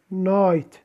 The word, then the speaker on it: night: night الجي لم يلفظ أبدا.